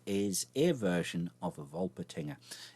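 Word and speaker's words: Wolpertinger: in my pronunciation there it's obviously something Germanic as I pronounce the W as a V of volt patina and there is ear version of a vole patina it's German more specifically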